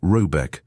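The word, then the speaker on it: Råbäck: The manor house, or herrgård, in question is to be called Rayback, pronounced something like Robeck, though that is not its name.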